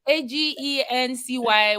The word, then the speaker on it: AGINCI: at the front or a join or yeah a-g-e-n-c-y would have been less catchy yeah and more